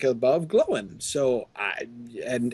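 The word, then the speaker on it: Glóin: over the first letter in a two-letter combination, like glowin, for instance, with the accent over the O, it's the accent is there in order to tell you to break that up into two syllables, like that it's supposed to be two different sounds. So, the accent is over the O in glowin to prevent you from saying gloin, or worse, his father groin.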